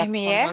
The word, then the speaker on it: infirmière: Alors, infirmier, féminin, comme un accent grave, on va ouvrir la Infirmière, c'est prononciation. On va dire infirmière. Infirmier, infirmière. OK?